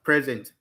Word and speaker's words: present: For instance, if you said you are present in this class now, for instance, present, the stress is on the first present. So I'm present in this class now. You are present in this class.